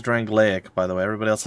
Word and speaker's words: Drangleic: wrong lake or drangleic she's the only one who says drangleic which is how I would pronounce it as well so it's weird I